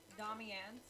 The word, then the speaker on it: Domianne: Is it, did I pronounce it right? Domianne?